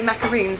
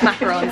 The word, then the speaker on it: macarons: and I feel like so many people say macaroons that I always think that that's right it's not right it's macarons and I now know that